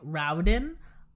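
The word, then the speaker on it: Raoden: is the most character development and people find Rowden r-a-o-d-e-m to be a flat character and Serene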